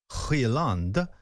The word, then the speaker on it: Højlund: And what I mean by that is, if you've got a centre-forward who's a young player like Højlund, my wife told me that's the pronunciation, she's Swedish.